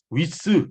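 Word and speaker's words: width: 이 드는 이게 먹는 소리예요. 느 하고 들어가는 소리라서 한국말로 드라고 표현하면 안 돼요.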